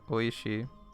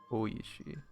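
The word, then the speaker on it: おいしい: Don't pronounce it oi. Okay. Oishi. Oishi. It's supposed to last longer, right?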